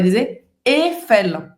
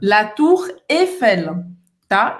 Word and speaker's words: Eiffel: Porque a gente fala Eiffel. Para começar, o som mais forte, a sílaba forte vai ser a última. E o I não se pronuncia. Então, em vez de Eiffel, você vai dizer Eiffel.